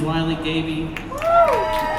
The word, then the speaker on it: Wiley Gaby: My name's Wy Gaby. Thank you. It is like Smiley Baby if you need to know how to pronounce it or find it on the internet.